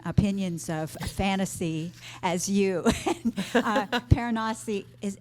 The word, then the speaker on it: Piranesi: Paranasi is, how do you say it? I pronounced it Piranesi. I think that's how the author said it.